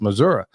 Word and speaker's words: Missouri: Yeah, that's how you actually say it, y'all. It's actually pronounced Missouri.